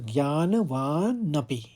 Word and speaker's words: ज्ञानवानपि: दूसरे चरण को देखिए इसमें आप दो शब्दों में इसको भाग बांट लीजिए प्रकृते एक बोलिए और ज्ञानवानपि ज्ञानवा नपि प्रकृते ज्ञानवानपि ज्ञानवानपी है तो मतलब